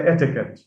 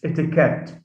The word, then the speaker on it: etiquette: uh words like sometimes we often hear people say etiquette it's etiquette now that's another suffix ette this affects and that it carries the stress itself so this is one